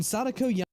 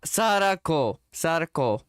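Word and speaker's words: Sadako: When Sodico Sodico, I'm not watching.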